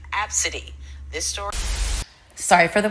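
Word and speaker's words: Abcde: her daughter's name is spelled a b c d e and pronounced absidy this story sorry for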